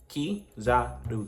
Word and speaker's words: Kizaru: Kizaru, because somebody said I said it wrong.